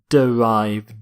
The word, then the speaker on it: derive: not note that pronunciation not drive but derive derive if something is derived